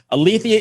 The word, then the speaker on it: Aletheia: Is that Aletheia? Is that how I'm pronouncing it? Yes. Okay, so Aletheia is a double movement